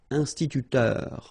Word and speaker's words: instituteur: So liaison here, and then remember this EU, it goes like heure with the R. Instituteur.